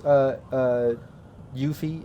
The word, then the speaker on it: Yuffie: As a game master, I would lean more towards Yuffie. Is it Yuffie? Am I saying it right?